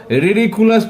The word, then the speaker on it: ridiculous: देखिए, खास करके इस पे आपको रिडिकुलस पे आपको जोर देना है कि इसको प्रोनाउंसिएशन कैसे करेंगे, तो थोड़ा उस पे आप ध्यान दीजिए।